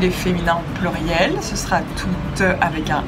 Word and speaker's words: tout: Les formes masculines singulier et pluriel sont toutes les deux prononcées tout. On ne prononce pas le T final.